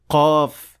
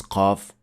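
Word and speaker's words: قاف: correct movement and pronounce qaf correctly. So, to produce qaf, the back of the tongue should be raised to make contact with the soft palate, and the sound will be produced.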